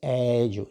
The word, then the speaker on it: eju: So this is eju. You see, as you can see, as you can hear, eju. When I pronounce this one, it is E is long, eju.